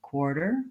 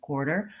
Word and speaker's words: quarter: the final syllable and even though this is an unstressed and short syllable quarter quarter I still need to have that tight back American our sound so really I'm doing two ears or and in this word and then we have